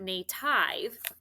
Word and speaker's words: native: That I is short and that E is silent. It's not long. So this is not a vowel consonant E. This is a vowel dash E what? Exception, because it's not native, it's native.